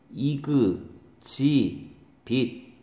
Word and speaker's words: exhibit: 발음이 다르죠? 이그 지 빛. 이그 지 빛. 얘는 엑서비션 이렇게 되는 거죠.